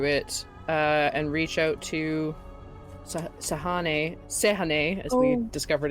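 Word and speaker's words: Sehanine: And is going to reach out to it and reach out to Sehane, as we discovered it's pronounced.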